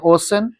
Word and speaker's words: ocean: Spelling तो वही रहेगा, RESTAURANT, रेस्टोरेंट का स्पेलिंग वही रहेगा, सैलून का स्पेलिंग वही रहेगा। अब देखो OCEAN, ओशन, और एक आता है सिटीजन, सिटीजन, और प्रोनाउंस में कुछ बताया, स्टूडेंट हो गया, सिटीजन हो गया, है ना।